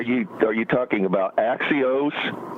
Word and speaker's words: Axios: Are are you are you talking about Axios? Yes. I believe that's the way they pronounce it.